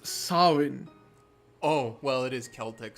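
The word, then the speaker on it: Samhain: now from the office uh that that holiday Sam Hae I don't think it's going to come up again I've just learned it's pronounced sinin oh well it is Celtic so that makes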